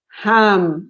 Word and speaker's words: ham: do you say jamon ham with an age very soft that's like he's saying it um do not use your throat to pronounce this sound you say like you